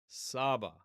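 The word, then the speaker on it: סבא: So that's a sign that this is an Aramaic word and it is sabah. Sabah with the stress on the first syllable.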